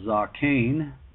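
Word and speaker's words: זָקֵן: word elder in the hebrews 2205 which is pronounced zoccain it's from 2204 and here in this instance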